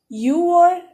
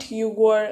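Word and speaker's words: 유월: So for the sake of comfort, Yugor is written and pronounced as Yuor. I hope you get me. It is Yuor and Shiwor, not Yugor and Shibor.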